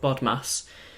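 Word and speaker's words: BODMAS: other languages follow the order of bod Mass which is spelled b o d m a s and what bod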